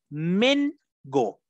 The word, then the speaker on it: mango: uvas exactamente grace uvas mango que su correcta pronunciación en inglés es men go con él pero se escribe con a blue berry chicos barry